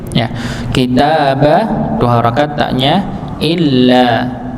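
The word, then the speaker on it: إلا: kitaba dua harakat tnya Illa Illa di sini di apa dihentakan juga Nggih jadi hamzahnya masuk pada huruf H lam illa dan ada beberapa yang kadang bacanya Ila mim ba'di Il mim ba'di ya karena nanti merubah maknanya kalau illa itu kecuali kalau Ila itu kepada atau sampai bisa begitu Nggih jadi maknanya ber berbeda illa mim ya mim'di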